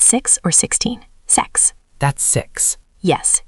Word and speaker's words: sechs: Sechs. That's six. Yes, hear the extra s at the end, sechs.